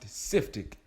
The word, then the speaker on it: SYFTK: So I took SYFTK, pronounced Siftic, right?